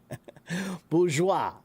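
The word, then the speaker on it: bourgeois: It means that it's uh a word that doesn't the pronunciation is from the original language. Like for example, this word. Do you guys know that word? That word is bgeoa. Bourgeoa.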